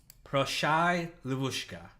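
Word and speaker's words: Proshai, Livushka: here is Proshai Levushka, which my best friend is Russian, and she said that I pronounced that right. I showed her the episode ahead of time to be like, am I pronouncing this right? And she said it was close enough.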